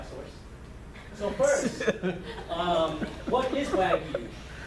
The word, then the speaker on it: Wagyu: So first, what is Wagyu? It's broken down into two syllables.